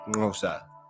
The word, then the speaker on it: Xhosa: Hence, Xhosa is usually pronounced something like Ngosa.